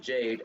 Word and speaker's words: JPDE: Route events, these are tied to characters you've already met outside of Team Jade and will progress their own personal route.